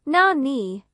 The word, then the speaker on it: 何: The Japanese word for what is na-ni, which in this case is pronounced nan.